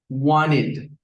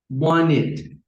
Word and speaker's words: wanted: Entonces, recuerda, cuando el verbo regular en su forma base termina en T o en D y lo queremos pronunciar en pasado, que se le agrega ed, va a sonar como it. Esto lo vas a encontrar como así, it.